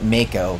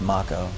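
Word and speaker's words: Mako: it's mock oh I want to call it Maiko but I know it's Marco Marco makes sense because that's how you pronounce off and Oh in Japanese oh look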